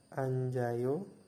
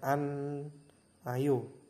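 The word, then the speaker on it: 앉아요: Yang nomor 2 itu adalah anjayo. Jadi kalau misalkan teman-teman membaca sesuai tulisannya itu biasanya an ayo begitu.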